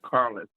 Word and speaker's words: Careless: Andrew Careless. He says Carlos. But it's CARELESS. Yeah, but it's spelled careless, but But I don't think he wants to have as an agent a person who cares less.